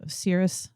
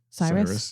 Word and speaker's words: Cyrus: But uh he miraculously uh released them from exile and um the Cirrus, the king of Persia, let them return to rebuild. Cyrus. Cyrus.